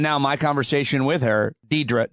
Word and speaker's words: Deirdre: If you look at the letters, you know how to pronounce it. It's Deirdre.